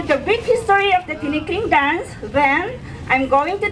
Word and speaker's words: Tinikling: Pronounced as T as in green tea, Nick as in Nick in snake, and Ling as in Ling in slingshot. Tinikling. Let us say it together. Tinikling.